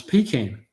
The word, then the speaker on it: pecan: be here until well pecan is the correct way to say it just just so you know. Um just in case you weren't sure pecan is the way to say it.